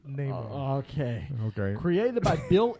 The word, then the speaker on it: Namor: It's Namor.